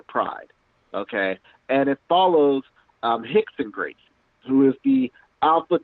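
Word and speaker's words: Rickson: up and look up his name is spelled like brixon but it's actually Hicks and Gracie he and all the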